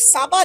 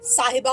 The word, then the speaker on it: साहिबा: है ए कोई शेख साबा ने नहीं साबा नहीं होता साहिबा होता है प्रोनाउंस प्रॉपर करना चाहिए